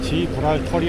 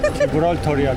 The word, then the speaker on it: 지브롤터: 지불털이 아니고 지브랄털이야.